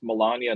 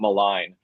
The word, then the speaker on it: Melania: And by the way, point a point of clarification, Nancy, I think it's pronounced Melania, not malign.